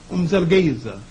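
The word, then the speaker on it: Mzilikazi: known in history as, the British call him Moselekatsi, and the Africans who can speak with the click language call him Umzelgeza.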